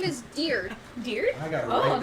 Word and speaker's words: Diurd: No, it's Diurd. Think of a deer.